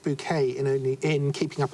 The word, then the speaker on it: Bucket: other pictures denote well uh bucket pronounced bouquet in only in keeping